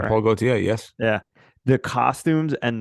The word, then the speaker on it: Jean-Paul Gaultier: Jean-Paul Gaultier, yes.